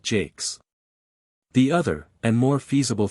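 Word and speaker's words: Jacques: the union George three the English way of pronouncing jacqu is not and probably never was Jack but Jake's the other and more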